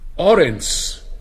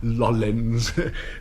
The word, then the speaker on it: Lawrence: Orens, the Arabs called him, for they are unable to pronounce their L's, as distinct from the Chinese who can pronounce little else. It is interesting, though fruitless, to speculate that had fate taken him to China, he would have been known as Lollens.